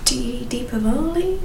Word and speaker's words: Diwali: Because you have Deepavali, is that how you say it? So Diwali. Diwali, that's it.